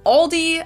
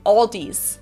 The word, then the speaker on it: Aldi: In English, people usually pronounce this Aldi. I think I've also heard Aldi before, but I think most people say Aldi. Or they also sometimes add an S that isn't there in the end and say Aldis.